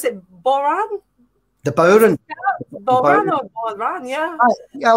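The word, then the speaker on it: bodhrán: Boran? The Boran. Boran. Yeah. A lot of folks call it the Boran, the Boran. You know, in Ireland, it's the Boran. It's a Gaelic word.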